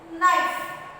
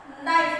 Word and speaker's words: knife: Knife. Knife. We are pronouncing the word knife by the letter N. N ಅನ್ನು ತಗೊಂಡು ನಾವು ಏನು ಮಾಡ್ತೀವಿ? Knife ಅಂತ ಪ್ರೊನೌನ್ಸ್ ಮಾಡ್ತೀವಿ. But ಅಲ್ಲಿ K ಏನಾಗಿದೆ? K is silent.